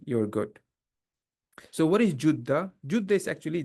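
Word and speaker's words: جدة: good so what is juda juda is actually JDA the one that we the city in the Saudi it is actual pronunciation is Juda but I think we say jda more often.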